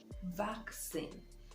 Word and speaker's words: vaccine: it is back sin the stress is on the first syllable backs in you can see the transcription right day vaccine so you place the